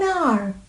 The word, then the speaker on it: hour: Before a word beginning with a silent H, resulting in a vowel sound at the beginning. Examples: an hour, an honest, an honest man, honest, an heir, an honorable man, honorable.